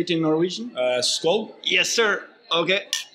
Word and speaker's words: Skål: Skål. Yes, sir. Okay. Skål.